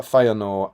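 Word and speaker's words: Fëanor: I also think generally in Tolken's writings two consecutive vowels are pronounced separately like feyenor and tu and although I ignore these next two oin and glowin.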